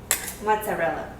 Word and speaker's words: mozzarella: is how it's pronounced, is mozzarella, okay?